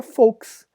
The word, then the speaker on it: Volks: No alemão, o V não se lê V, se lê Fal. Tá entre aspas aí a pronúncia, Fal, exatamente isso. Como na palavra Volks.